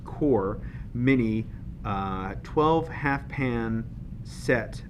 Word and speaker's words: QoR: Today we're going to be unboxing and swatching the Golden QoR, pronounced QoR, mini 12 half pan set of their watercolors.